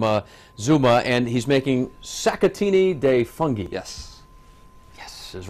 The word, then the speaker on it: Sacchettini di Funghi: Mitch Daniels from uh Zuma and he's making satini de fungi yes yes is right I finally got it